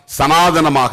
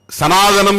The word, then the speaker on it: சனாதன்: பாசிசம் என்னவாக இருக்கிறது என்றால் சனாதனமாக இருக்கிறது இந்தியாவில் பாசிசம் சனாதனம் என்கிற இன்னொரு பெயரில் அழைக்கப்படும் வருகிறது சனாதன் என்கிற சமஸ்கிருத சொல்தான் தமிழிலே சனாதனம் என்று தமிழ் உச்சரிப்புக்கு ஏற்ப நாம் மாற்றி இருக்கிறோம் அது சனாதன் என்பதுதான் சரியான சொல் அல்லது சனாதனா என்பதுதான் சரியான